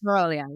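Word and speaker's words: morrowii: I never can Moroi, pronounce it yes, correctly. yes. Morawii, yes.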